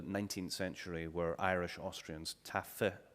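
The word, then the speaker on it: Taaffe: century were irish austrians taffy as is pronounced here and the last living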